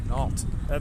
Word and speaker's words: Knott: I think it's Knott, but I'm not sure. It might be Nault. Nault. That's what it is.